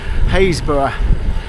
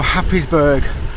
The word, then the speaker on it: Happisburgh: I'm just heading towards Happisburgh, or Happisburgh as you might pronounce it if you didn't know the local dialect.